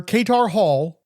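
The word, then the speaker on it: Katar Hol: An alien from the planet Thanagar, the phonetically familiar Katar Hall, first name spelled with a K and last with an O, was the son of noted scientist Piranqatar.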